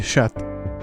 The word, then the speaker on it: chat: The French pronounce is sha. Oh, is this sha sha? Oh my my apologies. I am ill informed. They're just simply sha.